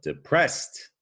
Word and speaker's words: depressed: stress that first syllable but depressed you stress the second syllable and so another difference